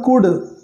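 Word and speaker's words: could: बट कुड नॉट, लेकिन नहीं आ सका, यहाँ पर कुड, इसको क्या पढ़ेंगे, कुड, इसमें भी क्या है, एल साइलेंट है, कुड, जिसका मतलब होता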